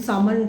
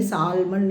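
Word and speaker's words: Salmond: ओ एन डी सामन इसमें एल आप silent है आप बोलेंगे नहीं सालमंड नहीं बोलेंगे दिस इज सामन तो एस ए एल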